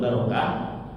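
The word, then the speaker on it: بَرَكَة: sama ta marbutah nah ini kalau ditulis tanpa harakat bacanya bisa barokatun Barokah bisa birkatun birkah maknanya apa Barokah itu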